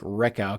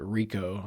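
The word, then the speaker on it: Rehkow: But Ryan Rico, I think it looks like Reckow because it's Rekhow, but apparently Darren Simmons pronounces it Rico.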